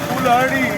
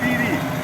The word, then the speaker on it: Piri: What you are looking for, Fulhari, is a mispronunciation of Piri.